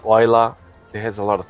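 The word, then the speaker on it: Islay: they're from the Isle of Skye they're either Isla is luck yeah yeah ruff or something I never knew the pronunciation for is LA why my cell call I say it easily but it's y la it has a lot of pronunciations okay correct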